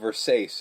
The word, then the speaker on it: Versace: Nomi's mispronunciation of Versace as Versace.